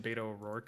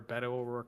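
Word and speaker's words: Beto O'Rourke: Um, but like he's, you know, he's like better than Beta Oorc in a lot of things. Um, or Betto Oor is how you say. I was I almost said Beta Oor.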